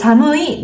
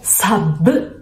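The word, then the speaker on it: 寒い: Tak więc "Samui" to "Sammu". Niektórzy zamieniają "mu" w "sammu" na "bu". Nie dotyczy to wszystkich słów, ale czasami "mu" jest zastępowane przez "bu". Wiele osób wymawia "sammu" jako "sabbu". Są to wskazówki, jak brzmieć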